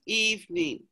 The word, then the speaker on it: evening: um evening hearing yes evening you don't really say that second e just eve mean me right and i